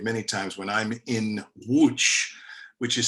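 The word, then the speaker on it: Łódź: times when i'm in wooch which is spelled l-o-d-z but in polish it's pronounced wooch so he died on tour there and whenever i'm in wooch i bury i i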